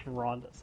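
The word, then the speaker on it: Verandis: I'm sorry, his name is Verandus. I always mispronounce it.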